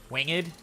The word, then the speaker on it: winged: Because in winged, it's all one syllable. It's all one syllable where the G is sort of more an N-ish. Honestly, the G is sort of silent. The G is sort of silent in winged.